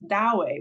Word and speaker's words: Douwe: hasn't read my book, his first name is Dowe, which is spelled Douwe. And it's probably one of the most difficult names to pronounce and to stumble over. But if you're just listening to it and you say the word do, then you're not going to hear a name.